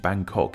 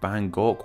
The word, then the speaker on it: Bangkok: from this name of Bangkok where we can see the city's proper pronunciation in English we put the G sound at the end of the first syllable hence white sounds so